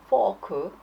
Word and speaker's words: fork: 또 많이들 헷갈리는 게 이제 밥 먹을 때 먹는 fork 그거는 F 발음이 들어가고 그다음에 돼지고기 할 때는 pork 해죠. P가 들어가죠. 근데 가끔 보면 fork 달라 그럴 때 pork 달라 그래 갖고 사람들이 이제 헷갈리죠.